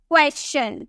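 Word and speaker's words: question: nature उसी तरह से वेरी कॉमन क्वेश्चन कोई से क्वेश्चन बोलता है तो कोई से क्वेश्चन बोलता है लेकिन इसकी करेक्ट प्रोनंसिएशन क्या है आपको यहां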